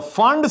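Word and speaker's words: Pfund: we finally have the fund series. The fund series where the P is silent.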